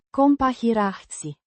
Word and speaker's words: comparații: Compahirații. It has several syllables with emphasis on the Pa. sound. The plural ending I. is pronounced with a soft E. sound.